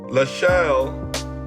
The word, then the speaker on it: LaSalle: First, the court is surprised to the point of astonishment that the defendant Trust LaSalle, that's how you say it, Bank National Association did not comply with the term of its own pooling and servicing agreement, right?